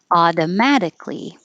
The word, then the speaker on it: automatically: it's over here here automatically automatically it can be duckly or dickley either way automatically automatically and single